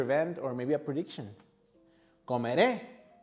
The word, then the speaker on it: comeré: Comeré with the stress in the last syllable.